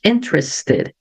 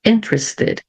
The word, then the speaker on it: interested: tenho a letter S quando eu tenho a letra s antes do T aí eu mantenho o som da letter T Ok interested interested bom sempre tem exceções